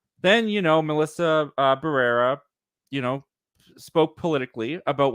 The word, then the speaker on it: Barrera: Ortega and forgive me if I got her name wrong Melissa barrero Barrera yeah yeah Barrera yeah you got it yeah